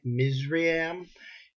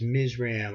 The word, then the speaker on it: Mizraim: we're going to do king mizriam the chaldea king of egypt and that's ms ram i'll spell that for you is m i z r a i m and he was also